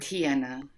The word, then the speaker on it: Tijana: It's Serbian. My given name is Serbian.